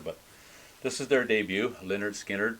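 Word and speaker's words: Lynyrd Skynyrd: this is their debut leonard skinner pronounced leonard skynyrd and it's an iconic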